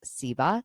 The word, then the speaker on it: SIBA: She is a writer, editor, and executive director of the Southern Independent Book Sellers Alliance, pronounced SIBA.